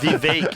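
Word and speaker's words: Vivek: for their whole lives it's vake it rhymes with cake apparently vake vake rhymes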